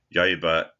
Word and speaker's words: 刃: Not this is the just the hugana the um possessive not ya ya is a kunomi reading of jin meaning the blade of a knife or a sword.